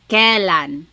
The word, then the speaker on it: kailan: You might hear some people say kailan. Sounds like an E, but it's technically spelled with an AI.